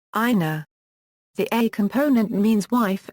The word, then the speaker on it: 稲: The C component means rice plant, is written a in hiragana and is pronounced ina.